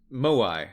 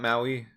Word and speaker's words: moai: all right um moai not maui moai yeah heads gotcha gotcha